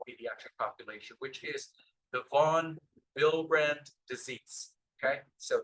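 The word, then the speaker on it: von Willebrand: population which is the vonbrand disease okay so the W here is pronounced as the V now this is a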